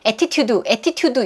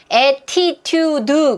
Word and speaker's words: attitude: attitude 이러시면 안 돼요. attitude. 그럼 벌써 4음절 한 거예요. 얘 발음 끼워볼까요? 3음절이에요. 그쵸? 모음 3개니까 강세는 맨 앞에 있어요.